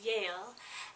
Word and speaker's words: Jael: And Jael means wild mountain goat and can also be pronounced Yale.